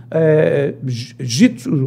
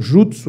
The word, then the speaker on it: jutsu: Então, as pessoas acham que jitsu ou jutsu, né, que é a pronúncia tanto faz, acham até que são duas coisas diferentes, não é. Jutsu e jitsu é exatamente a mesma coisa.